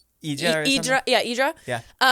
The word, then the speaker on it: Hydra: Yes, we went to I think it's I want to say Hydra, but I think it's pronounced Idra.